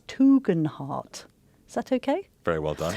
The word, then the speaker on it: Tugendhat: I say Tugendhat. He's spelling that Toogen-Hart, but my brothers say it differently. We should go with him, so it's Tugendhat.